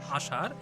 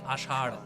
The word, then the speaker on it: আষাঢ়: Okay, so it will end with a very distinct ra. Okay, so when you pronounce it, be very careful. It should not sound like ashar, it should be ashar.